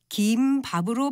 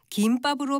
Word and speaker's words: 김밥: 아마 두 번째 음절을 된소리로 발음하는 김밥이라고 하는 분들이 더 많을 것 같습니다. 원래는 두 번째 음절을 예사소리인 김밥으로 발음하는 것이 원칙이었는데 김밥으로 발음하는 사람들이 더 많다 보니까 현실적인 발음도 허용해 지금은 두 가지 모두 맞는 발음입니다.